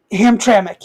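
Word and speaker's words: Hamtramck: As I said, uh, Dearborn and did I say it correctly? Ham tramic. Ham Ham Tramik. Yep.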